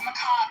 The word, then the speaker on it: macabre: You're just you're a macabre uh person who's interested in death. Macob is how you pronounce it.